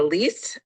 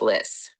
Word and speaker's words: Liss: I probably pronounced your I said leas I think it's Liss thank you apologize thank you madam chair members of the committee of Liss I'm the executive officer